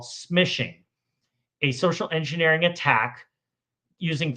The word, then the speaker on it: smishing: So, instead of calling SMS, we call it smishing. and it rhymes with fishing.